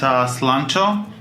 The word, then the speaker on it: Slancho: We're interviewing my close friend Slancho.